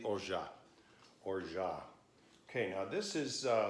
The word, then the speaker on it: orgeat: Some people say Orgeat with a T on the end. It's an alternate pronunciation, but seeing that it's originally from France, it could go either way. Most likely Orgeat.